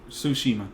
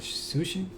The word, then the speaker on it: Tsushima: Ghost of Tsushima. Yeah. Tsushima. Yeah. It's got that silent T in front of it. Sushi? Tsushima. No, not sushi.